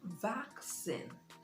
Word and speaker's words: vaccine: it is back sin the stress is on the first syllable backs in you can see the transcription right day vaccine so you place the emphasis on the first level that is what stress is about s ays says says